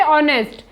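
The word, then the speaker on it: honest: नहीं किया जाता जैसे ऑनेस्ट हा ओ एन ए एस टी तो हा किसी वावेल से पहले आया है तो यहां पर हम हा का उच्चारण नहीं करेंगे जैसे अवर हा ओ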